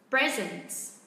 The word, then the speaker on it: present: Vì nó là một cụm danh từ, vậy đương nhiên tôi sẽ đọc là gì ạ? Present, đúng không ạ? Ok, vậy tôi sẽ đọc là a wedding present.